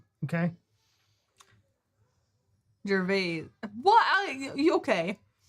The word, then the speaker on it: Gervais: Gervaises, Gervais. See, this is why we couldn't do that show. Yeah, right. If he was French, it would be without the last letter, but it's actually pronounced Gervais.